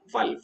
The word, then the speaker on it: फल: तो फल सही उच्चारण नहीं है, ये उर्दू का शब्द हो गया। फलक, फिजा, पता नहीं क्या क्या होता है, फिजा, फलक। तो इसमें क्या है, आपका होंठ पूरा बंद नहीं हो रहा है। फल, फा, फा पूरा बंद होना चाहिए, तो वो सही उच्चारण होगा, शुद्ध उच्चारण होगा संस्कृत का, ठीक है।